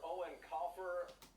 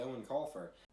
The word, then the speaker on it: Eoin Colfer: Joining us live this morning from Dublin is author Eoin Colfer. Artemis Fowl is based on the beloved book series by Eoin Colfer.